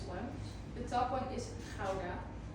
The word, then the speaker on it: Gouda: It's not Gouda, but I will give you to say it like that. It's kind of like a fly stuck in your throat and you're trying to get it out.